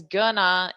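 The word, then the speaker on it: gonna: to this section here we pronounce it as GNA in spoken English and that's just a natural pronunciation change that happens we don't think about it consciously I don't decide to say it it just comes out naturally it's just what happens with the combination of sounds now we also use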